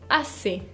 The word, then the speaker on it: assez: Le deuxième adverbe de quantité, c'est assez. Assez significa bastante. O sí, bastante, assez. Se escribe con una Z final que no se pronuncia, qui ne se prononce pas.